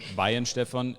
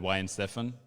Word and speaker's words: Weihenstephan: um if you if you go along with bayern stefan it's always better than y and stefan because wine 7 is the american way to say it yeah